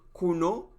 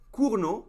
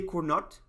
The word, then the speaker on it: Cournot: called kuru no competition kono was a french guy so that's how you pronounce it you just don't pronounce the t so you could say kuno or kurno which is the correct